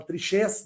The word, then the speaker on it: Trichês: Queria só dizer, Daniel, bem rapidinho, aqueles que quiserem também me seguir no Instagram, é o @Triquês, se escreve Triquês com CH, se fala Trichês, né?